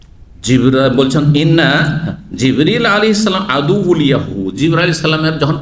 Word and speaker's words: জিব্রীল: জিব্রাইলের নামের দুটো উচ্চারণ রয়েছে। জানেন না জানেন না? আমাদের দেশে শুধু জিব্রাইল উচ্চারণটি প্রসিদ্ধ তাই না? কিন্তু হাদিস কোরআনে কি রয়েছে? জিব্রল কি রয়েছে? জিব্রাইল আর মিকা এখানে জিব্রাইল নাই। কি আছে জিব্রীল আমি প্রসিদ্ধ কেরাত যে